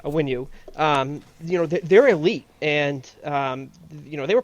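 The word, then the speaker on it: Onwenu: Those 5 guys up there, with Macy, Tooney, Wynn, Andrews, and Awanu. Did I say his name right? Yeah. Awanu on the right tackle. Awinu, I believe. Awinu. Yeah, Awinu.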